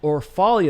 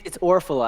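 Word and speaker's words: Orfalea: I have Matt Orfalia. Is that how you pronounce it? Orfalia? It's Orphala, actually.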